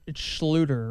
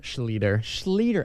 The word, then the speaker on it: Schlueter: Well, it's actually the correct German pronunciation is Schlueter, and then one of my relatives just switched it up a few years ago. So Schlueter is technically, you're saying it correct. If we were in German, all the Germans would call us Schlueter, but someone changed it.